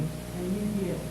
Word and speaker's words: Nouguier: Although you don't pronounce it right, but you're right. Kuchlan and Mugier. And Mugier.